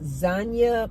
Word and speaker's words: Xania: Did you guys see this AI music artist, R&B, called Zanya Monet?